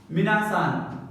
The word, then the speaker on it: みなさん: The polite minasan.